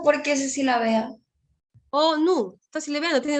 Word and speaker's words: ONU: ONU. Está silabeando, ahí hay 2 sílabas. ¿Sí? ¿Se entiende? Pero si yo digo FBI, no, ¿no? ¿Sí? Si yo digo ONG, ahí no. No lo puedes silabear.